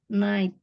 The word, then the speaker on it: night: Night gitu GH-nya masih kedengeran ya. Harusnya nggak boleh ya. Night. Jadi GH-nya nggak dibaca.